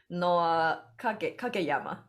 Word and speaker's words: Noah Kageyama: Noah Kageyama.